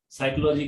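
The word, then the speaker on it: psychology: साइकोलॉजी की spelling के अंदर पी आ जाता है आगे, अब पी क्या, पी साइलेंट लगाया क्यों साइलेंट है, फालतू बच्चों का दिमाग खराब करने के लिए।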